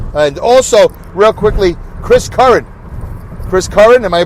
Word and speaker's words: Curran: And also, real quickly, Chris Curran, am I pronouncing that right?